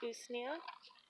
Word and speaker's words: usnea: So this one right here, this is usnea.